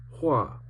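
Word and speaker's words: 化: I learned my 45th character today, pronounced hua, meaning transform.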